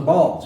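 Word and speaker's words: Baal: you should know about b a a ball or Bale often pronounce here but with ball one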